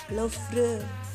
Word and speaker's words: Louvre: Louvre Museum, gitu cara bacanya.